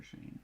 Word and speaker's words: Cheyne: Ooh, and it's spelled Cheyne. Yeah, like I said, he's Filipino. Different kind of spelling for Shane.